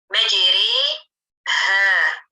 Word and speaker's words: مجريها: Namun, karena terdapat alif mumalah, maka dibaca ro murokokoh, menjadikan ro tersebut adalah ro yang tipis. Bagaimana cara pengucapannya? Saya akan putarkan contoh suara dari Ustazah Heba. بإمالة مجري ها not مجريه what.